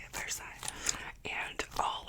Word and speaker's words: Versailles: That's how you say it, Versailles.